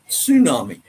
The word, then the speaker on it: tsunami: Tsunami. Well, the Hawaiians and Japanese that I've heard say tsunami when there's a bloody great wave coming. Yeah, I think the T is silent.